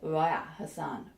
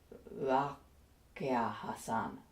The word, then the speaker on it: Raqia Hassan: Egyptian Arabic you speak, which is why it could be pronounced either as a G, a G, or as a glottal stop, which is the reason why we have Raya Hassan, not Raqia Hassan.